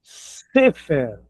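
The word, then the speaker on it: ספר: Eh, tem o se e o cegol. Neste caso, é o assento vai pro começo também.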